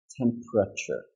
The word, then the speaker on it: temperature: putting two continents together Pope and rub correct temperature so three syllables okay but the important part for this